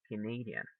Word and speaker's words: Canadian: in the second one we say canadian canadian do you hear where the stress goes here yeah right we say